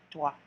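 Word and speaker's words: trois: And there's 3, toi, toi. So see, pronounce the T, R, W like what? Toi, like you're saying true. Then you see wa, like wa.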